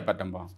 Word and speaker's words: Battambang: So on my visit there, which was so absolutely wonderful, we're in Phnom Penh, Battambang, if I'm pronouncing it correctly. Yeah, Battambang.